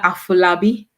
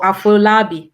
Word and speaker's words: Afolabi: So if you've just joined, I'm talking to Domilola Afolabi or Afolabi. How do you all pronounce Afolabi or No, Afolabi?